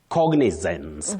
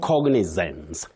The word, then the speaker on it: cognizance: The way it is actually you know now Betty that letter a in that word takes the sound e. Cognizance. Cognizance.